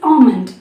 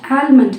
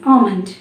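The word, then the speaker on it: almond: This is ஆல்மண்ட், நாட் ஆல்மண்ட். எல் இருக்கிறதுனால நம்ம யூஸ்வலாக எல்லை சேர்த்து தான் ப்ரொனவுன்ஸ் பண்ணுவோம். பட் எல் is silent here. This is ஆல்மண்ட். இப்போ இந்த வேர்டை வந்து நம்ம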